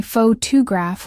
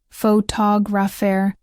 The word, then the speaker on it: photographer: In conversation, she would say faux graph when she meant photographer, and that stress made the word sound unnatural. Once we broke it down, ph to graph, faux graphair, and faux graphi, she saw the pattern.